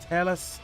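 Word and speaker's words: Telus: advert cuz that would be incredible how's it pronounced t e l u s tell us adverb I've got one from 14 years ago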